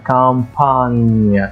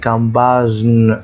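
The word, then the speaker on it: campagne: زي لما نشوف مثال زي كلمه ريف كلمه ريف هنا اسمها كمبان كمبان كمبان كمبان ما قلتش ايه كمباجن خطا كمبان ليه طيب عملتها كده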